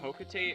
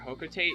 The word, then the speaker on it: Hokotate: I kind of like Hokotate, honestly. I guess it doesn't matter how you pronounce it, but I guess I just kind of prefer Hokotate because it rhymes with freight.